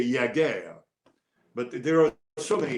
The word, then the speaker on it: Jágr: So we went with Jaromír Jágr and not Jaromír Jágr. But a lot of French reporters will say Jágr.